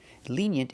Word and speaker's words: lenient: Lenient is the opposite of strict. Pronunciation, lenient. The first vowel is a long E, like green beans. Lenient. We have the Y sound like yellow and yesterday.